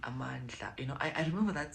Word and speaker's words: Amandla: You know, a lot of people online write it as Amandula, but like, it's pronounced as Amandla.